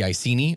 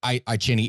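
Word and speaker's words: Iceni: the Celtic Queen of the icini or iini it depends upon where you are for how you're actually going to pronounce it but the I I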